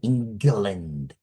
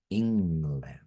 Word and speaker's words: England: So always be careful when you see G and N next to each other. So it should be not English, but English. Well, not England, but England should be correct.